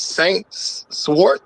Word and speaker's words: Saint Swart: What's his Saint Swart? Is that what that is? Saint Swart? You got the floor. Yes, sir. Yes, sir. That is the correct pronunciation.